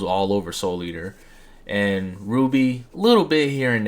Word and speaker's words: RWBY: As you can see from what we have on the screen, we have RWBY Rose from, how you pronounce it is RWBY.